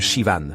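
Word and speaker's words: Siobhan: Je m'appelle Sioban. Le H est muet. Ça se prononce comme Shivan.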